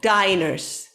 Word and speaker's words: diner: start okay the other diners okay we say dinner with double n but we say diner with one end okay normally um there